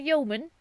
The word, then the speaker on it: yeoman: Okay, so sorry to grant Geneva the title of a yeoman. Is it it's yeoman, right? You don't pronounce the E.